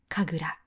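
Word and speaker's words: 神楽: ありません。2 つで神楽と読みます。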